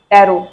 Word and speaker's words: tarot: The last T is silent.